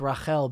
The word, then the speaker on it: Rahel: this interview guide me no it's pronounced rachel i thank my parents